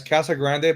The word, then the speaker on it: Casa Grande: Yeah, it's Casa Grande, but over here they call it Casa Grand.